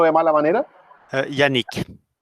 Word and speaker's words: Yannick: ¿Cómo se pronuncia bien tu nombre, Yannick, para no pronunciarlo de mala manera? Yannick, ¿Y tu apellido?